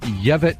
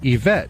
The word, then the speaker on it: Yvette: uh it was surreal we heard the name yevit vickers yeah well tanner meant to say yvette vickers now yeah who's